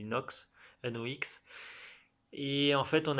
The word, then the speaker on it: Nox: Et en fait, on apprend que Pedro, c'est un ancien capitaine des pirates de Nox, je sais pas comment tu le prononces, moi je le dis Nox, N-O-X.